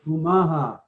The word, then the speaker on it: Umaha: question, but well, it's umaha. Umaha. Okay. The name of our tribe. Okay. Most people spell it like the city of Omaha, but really it's the first letter is a U.